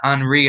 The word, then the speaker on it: Henri: It's way bigger than Henri out here, or Henry, depending on how you pronounce it.